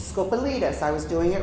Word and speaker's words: Scopelitis: Scop Scopalitus. Scopalitus.